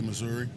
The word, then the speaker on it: Missouri: Depends on your slang or your tongue pronunciation, but I say Missouri.